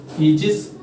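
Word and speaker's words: aegis: इसे हम पढ़ेंगे ईजिस।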